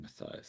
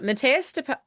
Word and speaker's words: Matias: Why I keep saying Matias? It's okay cuz the way it's spelled. But no, Matteas.